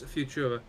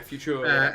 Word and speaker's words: Futura: I don't know how you pronounce that one. I would assume it's Futura. Yeah, Futura.